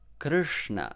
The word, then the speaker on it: Krishna: that's more british way but if you say it in american way matter better that is exactly the sanskrit sound krishna so just imagine you are saying better matter but just say krishna so now third sound